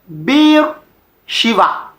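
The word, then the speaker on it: Be'er Sheva: from Hebrew language and in Hebrew the main pronunciation of this place is be Shiva with v be Shiva and the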